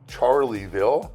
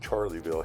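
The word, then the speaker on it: Charleville: and uh we're getting up towards Wilshire again we've passed Gregory and we're going to pass uh charlieville spelled Charlesville but we pronounce it charlieville here for some reason as so you can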